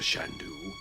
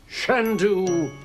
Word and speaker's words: Shandu: Not Mr. Shandoo. Shandu the Magnificent accent on the scent.